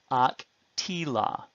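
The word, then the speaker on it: אקטילה: However, the addition of the a suffix in the cohortative does not take the accent. So the accent, it remains on the hirek yod syllable, ak, tila, or nak, tila.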